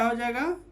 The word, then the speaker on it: hedge: जैसे bridge, BRIDG, जी के पहले डी आ गया तो क्या हो जाएगा? जी के पहले डी आया तो क्या हो जाएगा? डी साइलेंट हो जाएगा।